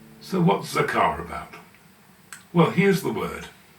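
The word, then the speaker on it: זָכַר: underneath giving us the zah sound in the middle letter is CF giving us a sound and there's a p vow beneath giving us now the last letter is R which is the r sound at the end zakar now compare that with Zama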